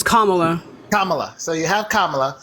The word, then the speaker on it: Kamala: so you have I want to say your name wrong Kamala right it's Kamala Kamala so you have Kamala she has she's